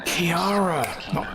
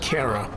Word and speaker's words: Kiara: Kiara, not Kara.